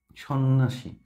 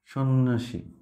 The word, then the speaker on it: সন্ন্যাসী: কি ব্যারেন তারপর স্বাস্থ্য সন্ন্যাসী সন্ন্যাসী এই জফলার উচ্চারণ নাই এই যে ন দুইটা